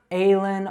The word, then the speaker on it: Ellen: So it's got 2 short E sounds. So it's not Ellen or Ellen, it's Ellen.